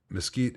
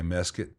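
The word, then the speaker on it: mesquite: looks uh Hey Allan, mosquite and musket are both uh acceptable pronunciations. Uh, mosquite uh is more common, but uh I was just hanging out in Cassag Grand where they say miscuit regional pronunciations are funny.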